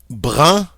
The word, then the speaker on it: brun: Without the E, we have a nice nasal sound, brun.